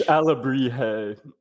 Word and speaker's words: Alebrije: for us please it's alabri Al yeah the J is just pronounced like H for you know English speakers uh and e e often kind of is an a sound so alri um yeah my so